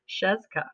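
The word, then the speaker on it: Scieszka: written by John and I had to look up how to say his last name because that's a lot of consonants his best it was pronounced Cheska Josh asked a funny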